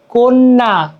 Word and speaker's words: কন্যা: আহবান আহবান ঠিক আছে কন্যা ক দন্তান জফল আকা দিচ্ছি বাট কন্যা ওকার উচ্চারণ হচ্ছে ঠিক আছে এই হচ্ছে